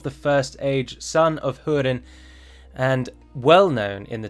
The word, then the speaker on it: Túrin: Túrin is pronounced as though it were written T-O-O, and not pronounced as the Italian city of Turin.